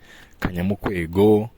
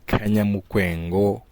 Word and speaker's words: Kanyamukwengo: Abenshi bafunze kuri pronounce nabi Kanyamukwego, ariko ni Kanyamukwengo Comedian, niko njye mbizi kandi nabyibwiriwe na nyiraryo Mfuranzima David.